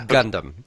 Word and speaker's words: Gundam: It's pronounced Gundam, like the gun.